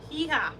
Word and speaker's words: hija: You don't pronounce the age, right? In Spanish, there is no sound for age, is there? Hija. Yeah. Oh my God. Yes. Shrinkage, right? Irja.